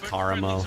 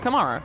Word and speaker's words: Karamo: It's Karamo. Come That's on. exactly. It's Karamo. Whatever. Absolutely, it is Karamo. Well, Anna, who do you think is the hottest? Kamara.